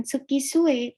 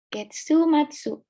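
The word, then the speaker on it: 月末: Nah, tapi ketika dua kanji ini bertemu, ini ya minasan, dibacanya bukan tsuki sue, tapi getsu matsu.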